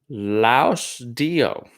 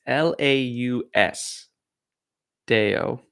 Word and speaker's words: Laus Deo: We have a poem called Laus Dio. I know I completely butchered that. It's Laus Deo. So Laudeo, Laus Deo.